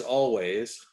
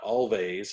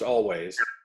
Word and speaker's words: Alvvays: It's Always. Oh, okay. Okay. It is a self-titled debut from Always. And it is Always, and not Always.